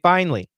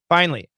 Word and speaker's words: finally: realtor finally finally and she is using three syllables typically we do two we don't say finally we say finally finally when their realtor finally